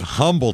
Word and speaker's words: Humble: murder they call it Umble Texas because I don't know they can't read that's all I can imagine he's a big guy 62 is his height but well they don't pronounce the h un unless there's a